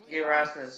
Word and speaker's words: Erasmus: Yeah, that's Erasmus. Yeah. Neil Erasmus. Oh mate, I can't even pronounce the word.